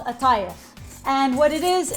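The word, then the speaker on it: qatayef: this is huge it is for at at it's spelled kif but it's called aif and what it is it's it's a middle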